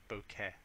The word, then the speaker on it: bokeh: Now the bokeh size, it's really hard to pronounce. Try it, it's like bokeh.